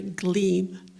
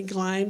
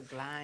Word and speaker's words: Gleim: But in the newspapers, and I've done a lot of local newspaper research, she was called Mary Glime because it rhymes with slime. Ah, all right, so Gleim.